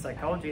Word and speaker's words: psychology: more minutes especially since psychology has a silent p at the front right